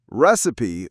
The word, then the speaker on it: recipe: Recipe, on the other hand, has three syllables. Receipt, two, recipe, three. We stressed the first one and the second is a recipe. Recipe. I know it's tempting to say receipt, but it's recipe.